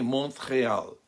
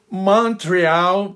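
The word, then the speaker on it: Montréal: no centro da cidade é a pronúncia em francês fala-se também monto real Montreal para os canadenses dá para ver a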